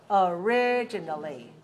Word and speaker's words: originally: And the adverb goes along with the adjective, and it's stressed on the second syllable. Originally. Originally.